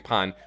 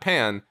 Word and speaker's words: Pan: audience by me saying pan Which I say because it's based off of the Japanese word for bread pun that's that's like that's why I specifically say it like that not pan speaking of why things